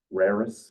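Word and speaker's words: Reiris: to say his name raris is how I say it in my head re i r i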